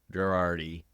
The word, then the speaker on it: Gherardi: from Michigan but I like me some gerardi and Craig Marsh they are they are my guys and did I mispronounce it how do you spell your how